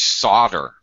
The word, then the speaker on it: solder: introduce to the class it's almost like Soldier solder so is when